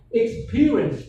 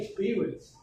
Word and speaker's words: experience: So you will often hear quite a lot of students they say experience. No, we say experience.